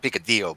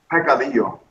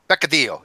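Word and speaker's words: peccadillo: I call it picadillo, but the sin is a quesadilla. No, but how does Joaquin pronounce? He speaks Spanish, so. But how does he pronounce it? It's a pecadillo. Pecadillo.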